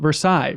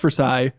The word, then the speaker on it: Versailles: down there also we have a town called Versailles but it's not pronounced Versailles it's pronounced Versailles God's country incidentally I believe